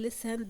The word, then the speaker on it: listen: now we have here in listen the t is silent so we don't say listen we say listen we have the word